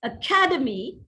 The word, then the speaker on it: academy: Make use of this derivational accent where accent shifts from one syllable to another syllable as you derive a word from, a longer word from its root word. Look at this: academy, academic, academician. That's the right pronunciation of these words.